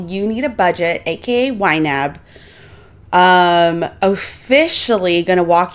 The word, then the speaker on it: YNAB: So in wab it even says here it is pronounced wab.